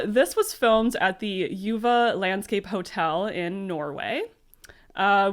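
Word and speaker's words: Juvet: the Forts and it's it's spelled uh j-u-v-e-t but pronounced Yuva apparently which is Norwegian for Gorge so there you go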